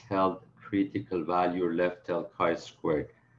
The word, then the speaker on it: chi squared: squared and it's pronounced chi squared guys so don't say x squared please this is basically the